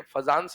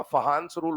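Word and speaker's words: Fajans: ये फजंस नहीं होता। फहांस रूल होता है। बट ठीक है? स्पेलिंग के हिसाब से फजानंस रूल बोल देते हैं।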